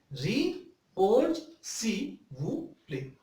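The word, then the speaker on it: répondez s'il vous plaît: The abbreviation of RSVP is Re-Org Si Wu Play. Once again, I pronounced RSVP Re-Org Si Wu Play.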